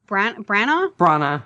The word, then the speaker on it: Branagh: Branagh, yeah. Branagh, yeah, that's how you say it.